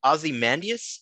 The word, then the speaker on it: Ozymandias: goes um what i'm really curious about the ozymandias did i pronounce that correctly yeah it was on the